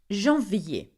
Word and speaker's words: janvier: Where you would find the most problem with, I think, the months are janvier.